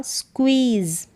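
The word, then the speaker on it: squeeze: skew फिर double E ई और जड का उच्चारण ज पूरा हो गया स्क्विज क्या है स्क्वीजी स्क्विज का मतलब निचोड़ द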